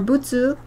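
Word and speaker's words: 物: Motsu means... It's the same kanji. It's used for lots of things. It could also be pronounced mono or butsu.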